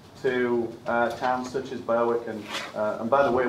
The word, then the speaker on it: Berwick: when we come to uh towns such as berwick and and by the way we pronounce it as eric in england so when i first said i'm going to work at barrick everyone looked at me and said where's bailey